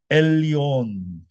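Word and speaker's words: עליון: 여기 N 발음. 그러니까 엘리온 그랬어.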